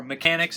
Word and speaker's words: Mecanix: This is Mecanix, or Mechanics as I'll be saying for the rest of the review. It is a French film, hence the pronunciation.